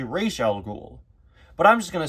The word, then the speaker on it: Ra's al Ghul: Although, I've heard that apparently, that's an improper pronunciation that was used in the Batman Begins movie and the proper way to say his name is actually Raish al Ghul.